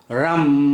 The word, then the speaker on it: RAM: Your solar plexus chakra is RAM, R-U-M, RAM.